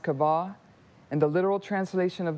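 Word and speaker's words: קָוָה: word weight in the Hebrew the word is pronounced kabah and the literal translation of the word weight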